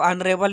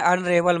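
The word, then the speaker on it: honourable: तो यहाँ पर देखिए ये जो ऑनरेबल लिखा हुआ है इसका जो प्रोनाउंसिएशन है अ से लेके अह तक है।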